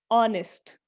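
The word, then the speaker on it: honest: My father is dash ऑनेस्ट मैन, ऑनेस्ट, ऑनेस्ट में हम फिर से देखो एच लगा हुआ है, हमें ह की आवाज नहीं आ रही, मतलब ये जो एच लगा हुआ है ये साइलेंट है, क्योंकि हमें ह की आवाज इसमें से नहीं आ रही। पर कौन सी आवाज आ रही है फिर, ऑनेस्ट, ओ की आवाज क्या है, वाउल साउंड, इसलिए क्या आएगा यहाँ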